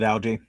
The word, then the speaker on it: Algie: Algae. I don't know why. It just is Algie the right way to pronounce that? That's the way I pronounce it, Algie.